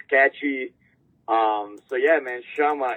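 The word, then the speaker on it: Chama: Sha is the the right way to say it and it's catching up.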